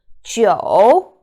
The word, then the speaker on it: 酒: So 酒, which means alcohol, but the same pronunciation also has another character, which means 9. So 酒, 9, and alcohol, they share the exact pronunciation.